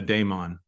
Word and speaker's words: daemon: philosophy which is Deon it's pronounced with an a instead of an E A Damon and the donon was